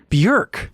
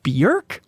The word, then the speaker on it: Björk: She's on the MinnMax Show podcast, music expert, talking about Bjork, which apparently pronounced Björk rhymes with jerk.